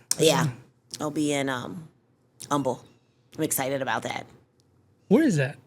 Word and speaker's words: Humble: Yeah, I'll be in um Umble. I'm excited about that. Where is that? It's like right outside of Houston. I always thought it was called Humble. You know, some people pronounce the H.